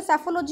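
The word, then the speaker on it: psephology: और जो सेफोलॉजी होती है, याद रखिए इसमें जो पी है वो साइलेंट है, ये होती है एक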